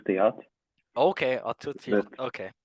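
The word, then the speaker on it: Theate: Is that how you say his name? Please help me. Yeah, we pronounce like Arthur Theat, Okay, Arthur but Tiate.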